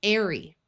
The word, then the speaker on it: airy: We should also be aware of words that end in the ARY suffix, which is pronounced with a long A. So this is airy.